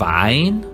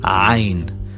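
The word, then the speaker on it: عين: Then we have Ain, and we pronounce it like A coming from the throat. Ain.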